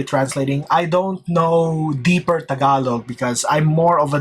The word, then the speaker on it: Tagalog: Tag along, dude. It's Tagalog. Tagalog. I find it funny that some people I love Big Jiggly Panda's um uh pronunciation of Tagalog is T. Yeah. Tagalog. It's Tagalog.